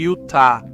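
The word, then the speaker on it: Utah: Os espanhóis diziam utá.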